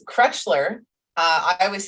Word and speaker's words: Krechler: did great that's like my last name it's cretchler uh i always say crutchler but in um